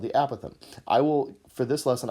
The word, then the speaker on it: apothem: angle this is the word apothem looks like apothem but we pronounce it apothem and that is just a fancy name for